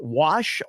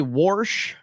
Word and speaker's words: wash: are for words like Wash oil and tires Wash oil and tires some people say warsh I don't I say wash uh some people say